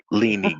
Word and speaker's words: Leanie: I love Lynn. I love Lynn. I keep saying her name wrong. I keep saying her Leanie. name wrong. Leanie, got it.